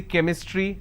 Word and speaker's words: chemistry: sound for example change but when i have the word chemistry ch becomes cur sound so i say chemistry i say chrome so